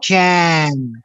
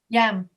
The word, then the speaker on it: yam: Yes, yam. Exactly. Yam. Yam. So when you see the first Y, you pronounce it as if it were an I in your language.